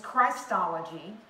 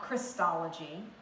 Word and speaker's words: Christology: proper British, who said, it is Christology, not Christology. It is Christ, not Chris. You will never pronounce it that way in my classroom.